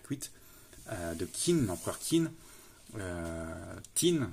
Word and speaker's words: Qin: Tin, ça se prononce en chinois, mais ça s'écrit bien Q-U-I-N.